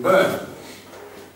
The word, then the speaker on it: Byrne: Alright, yeah, for those who don't know, my surname is Byrne, but it's spelled B-Y-R-N-E. Okay, Irish people are very, very confused. Alright? So, you burn the leftovers.